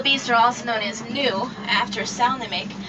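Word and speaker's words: gnu: are also known as New after snic spelled g on commonly mispronounced G new but the G is actually silent that's a termite Mountain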